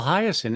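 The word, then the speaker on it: Hiaasen: I don't know how to pronounce his name. Carl Hyacin. Oh, Carl Hyacin.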